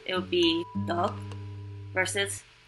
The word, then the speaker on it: 떡: Another example is the Korean word for rice cake, 떡. It has a very prominent D sound, and this is in comparison with only a regular one D sound. It would be 떡 versus 떡, if that makes any sense.